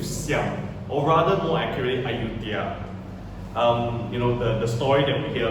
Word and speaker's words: Ayutthaya: This is a depiction of Judea, or rather Yudhya, or if you want to pronounce it in the correct way, it's actually Ayutthaya, right?